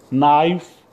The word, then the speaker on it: knife: Knife, K-N-I-F-E, knife.